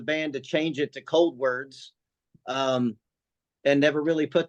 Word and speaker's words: Coldwards: the name um but there's uh it's actually pronounced cold words like cold words okay however you are slightly correct though because when we first name the band we did pronounce it cold Wards and then we decided as a band to